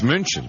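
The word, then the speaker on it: München: in Germany sir um Munich EXC and how do you how do you say Munich in German Muni wrong it's munion yeah do you remember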